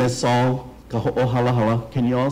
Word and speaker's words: Sol: share that with you today my name is saul can you all say that close okay i